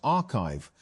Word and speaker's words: arXiv: Although papers are posted to the site before they are peer reviewed, arXiv, pronounced archive, has become one of the main ways that